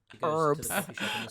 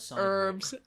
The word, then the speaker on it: herbs: Herbs. Herbs. Is there a reason the Americans won't acknowledge the H in herbs? It's right there.